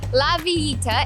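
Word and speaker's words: La Villita: think you might enjoy little village or la vieta as the locals say is where you come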